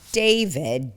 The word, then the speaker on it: D4VD: So he So D4VD, do you really pronounce it David? David, you pronounce it David.